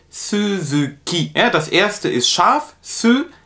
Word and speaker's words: Suzuki: in dem namen suzuki das wird auf japanisch immer wie ein weiches es ausgesprochen also wie ein deutsches weiches es da muss man auch ein bisschen aufpassen es heißt nicht so zugeht sondern es heißt suzuki er das erste ist